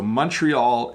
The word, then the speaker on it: Montreal: ok ah ok so Montreal is how an english-speaking Canadian would say montreal montreal you hear the T Montreal as opposed to the French pronunciation let's see Alexi has